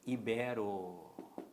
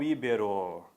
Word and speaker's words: ibero: Quem vem da Península Ibérica, pessoal, o certo é ibero e não íbero.